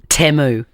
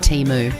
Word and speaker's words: Temu: night out my favorite is um that is temu U Keith Urban do you know that we've been we've been mispronouncing that magical website teu oh teu teu sounds way better it's teu